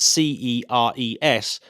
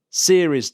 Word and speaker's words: Ceres: with which is going to help me remember the name properly, because obviously it's spelt Ceres, but the headline is the World Series.